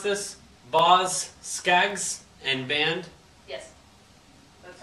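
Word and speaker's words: Boz Scaggs: ginger baker and rick gretch how do you pronounce this boss skags and band yes that's right these guys look like a lot of fun here's baz skyes ba boz skags silk degrees this is a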